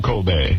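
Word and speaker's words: Cobie: Kobe, but it was spelled C O B I E. That's KBY. No, it was Kobe. That's how he pronounced it.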